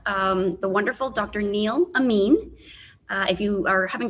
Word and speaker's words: Amin: the wonderful dr neil amin uh if you are having trouble wondering or remembering how to pronounce his name think of it like amino acid dr amin um dr